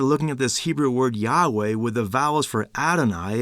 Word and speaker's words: Yahweh: The Hebrew word for the Lord's name is Yahweh. It means I am. Now sometimes people call the Lord Jehovah, but that's actually not only a mispronunciation, it's a misunderstanding of the Hebrew text.